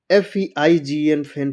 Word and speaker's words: feign: जैसे SIGN साइन, साइन मतलब होता है चिन्ह। FEIGN फैन, फैन मतलब होता है ढोंग रचना। REIGN रेन, रेन मतलब होता है शासन।